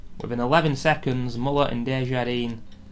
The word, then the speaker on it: Desjardins: Within 11 seconds, Muller and Desjardins, I think that's how you pronounce his name, it's a silent S, I'm pretty sure.